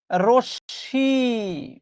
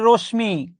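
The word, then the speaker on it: রশ্মি: রশী বাঙালি ছেলেমেয়েরা অনেক উচ্চারণ করে রশমি 100 পারসেন্ট ভুল উচ্চারণ হচ্ছে রশি ইংরেজিতে আমরা যেটাকে বলি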